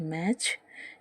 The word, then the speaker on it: match: तीसरा एग्जाम्पल है MATCH, मैच, जिसमें भी जो टी है वो साइलेंट रहता है, क्योंकि इन सब के